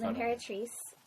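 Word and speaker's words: L'Impératrice: Oh, L'Imperatrice. Definitely spell that out. It's L'Imperatrice. It's French for the Empress, and the Empress is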